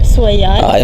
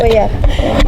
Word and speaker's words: Cuellar: Yeah, how did I say it? Suliar. No, I said Suliar. I don't know. Happy we caught that today. How do you say it? Cuellar. Okay. Cuellar. Now, the fight was canceled